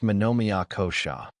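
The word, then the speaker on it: manomaya kosha: Deeper than breath lies the mental layer called manommyakosha pronounced manomia kosha which means the mental and emotional body.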